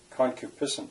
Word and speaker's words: concupiscence: of its meaning but khan cubiscent concupiscence that's four syllables and i i had